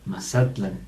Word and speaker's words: Mazatlán: Todos estos lugares que terminan en AN, realmente su acento, en toda la lengua náhuatl, la acentuación es grave en la penúltima sílaba.